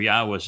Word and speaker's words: Yahweh: I go through the entire Hebrew lexicon and demonstrate without any doubt that the proper pronunciation of God's name is Yahweh.